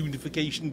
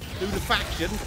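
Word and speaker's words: Lunafaction: And let me stick an empowering rift on, which will also give me extra range because it'll be lunification boots. Oh, I said it wrong again. Lunifaction.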